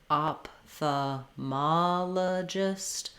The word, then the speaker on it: ophthalmologist: use, has the PH, letters PH saying the P sound. That's the same as ophthalmologist, it just sounds like ophthalmologist. Same strategies will work, syllable by syllable. Ophthalmologist, ophthalmologist, ophthalmologist.